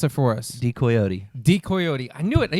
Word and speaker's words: Decoyote: Pronounce it for us. Decoyote.